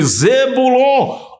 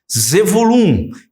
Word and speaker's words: Zebulom: falar sobre tribo de zebulon ou melhor zulum que é a pronúncia Hebraica e essa tribo pode